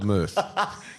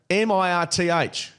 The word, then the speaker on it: mirth: M I R T H. It sounds like um girth.